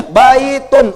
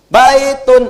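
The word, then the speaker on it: بيت: Baitun. Un misalnya jangan dibaca unnya baitun. Wah, enggak. Orang Arab enggak akan dengar bait.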